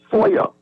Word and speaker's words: FOIA: We pronounce FOI FOIA.